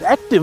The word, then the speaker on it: Acti.EV: The first Tata EV with the Acti.EV architecture, but it isn't pronounced that. It's pronounced active, and that's also because it has new batteries.